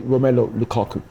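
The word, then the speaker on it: Romelu Lukaku: understand let me say his name right sorry romelo Lukaku he um he came on as a sub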